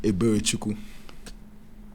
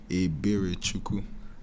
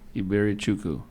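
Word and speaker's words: Eberechukwu: And I try to tell them I just go by, but it's pronounced Eberichukwu. Yeah, it means mercy of God. Say it again. Eberichukwu. Iberichukwu.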